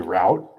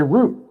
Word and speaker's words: route: In the US, we usually say route rhymes with shout for now meaning road or path. Whereas Brits often say route.